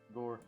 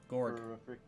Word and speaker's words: Gorg: He still made the deal with Gore. Gorg. Gorg. My bad, I said it wrong.